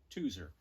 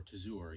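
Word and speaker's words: Tozeur: up from there to a town called tuser or tazoor you'll find it pronounced differently or at least i did and this is a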